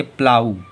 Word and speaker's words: plough: देखो PLOUGH, शब्द के अंत में जीएच आ रहा है तो इसे पढ़ेंगे प्लाऊ।